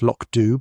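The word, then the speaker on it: Lochdubh: The village of Loch Dubh, pronounced Loch Dubh by those who knew better and mangled by tourists who did not, was enjoying one of its periodic spells of peace.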